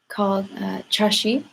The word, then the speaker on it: chaxi: Oh, I guess one thing I can mention is that there's this word called Tashi. It's spelled, I think, CHAXI, and it's essentially a word that describes your setting when you're getting ready to have tea.